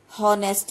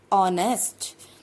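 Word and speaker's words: honest: अब इसे देखिए, क्या लिखते हैं हम, हॉनेस्ट लिखते हैं, लेकिन रीड हम क्या करते हैं, यहाँ से ऑनेस्ट, ओ साउंड है, this is a vowel, then we write here N, okay.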